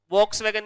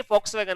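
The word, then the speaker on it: Volkswagen: वॉक्सवैगन, ये फॉक्सवैगन होता है, फॉक्सवैगन कहते हैं इसे, फॉक्स एफ, एफ कहा जाता है, प्रोनाउंसिएशन में फॉक्सवैगन कहा जाता है इसे। तुमने नाम नहीं सुना कभी? वॉक्सवैगन नहीं, स्पेलिंग ये, बट फॉक्सवैगन कहा जाता है इसे। चलो कोई ना, होता भी है बट इसे फॉक्सवैगन प्रोनाउंशिएट किया जाता है।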